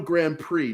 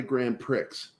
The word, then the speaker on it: Grand Prix: was told multiple times it's called a Grand Prix not a grand Pricks she just constantly called it